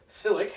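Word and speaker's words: Čilić: Nadal will play Cilic, is how that is pronounced.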